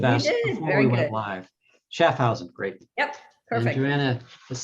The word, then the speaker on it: Schaffhausen: Did I pronounce the name right? I should have asked before we went live. Schaffhausen, great.